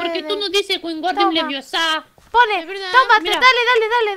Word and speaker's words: Leviosa: No se dice así. Es Wingardium Leviosa, no Leviosa.